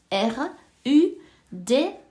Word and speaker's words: Ruda: bain avec cette fameuse Rouda qui ça ça s'écrit r u da Ruda ok ça fait des fleurs jaunes si